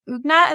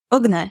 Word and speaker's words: Ugnė: you that's awesome congrats and you said you pronounced your name ugna is that correct ugna yes ugna okay right all right I looked